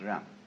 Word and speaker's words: Ren: In Confucius philosophy, the fundamental virtue of a human being is called Ren, spelled J-E-N, for reasons best known to Chinese scholars. I don't know what they are, but it's pronounced Ren.